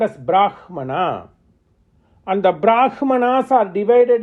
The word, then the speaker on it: Brahman: because hakara becomes Makara whereas in vic text it should be pronounced as Brahman that is how they